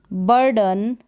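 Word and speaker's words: burden: जैसे कि children, रॉटन, citizen, बर्डन, लाइटन और लिसन। तो इस तरीके से ई को हम ई नहीं पढ़ेंगे, यहाँ पर अ पढ़ेंगे, जैसे कि इस रूल में बताया है।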